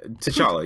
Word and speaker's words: T'Challa: T'Challa? Yeah, T'Challa, yeah.